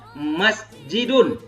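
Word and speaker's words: مسجدٌ: Ini bacanya masjidun. Nah, jadi bacanya masjidun. Kenapa masjidun? Karena tidak ada alif lam.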